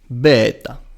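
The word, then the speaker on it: βῆτα: The second letter, beta or vita. Okay. In modern is vita, as I know. Yes. But now is beta. Beta. Like the beta version.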